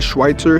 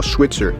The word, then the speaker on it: Schweitzer: some people call it Schweitzer, some people call Schwitzer. The correct way to say it is up to you.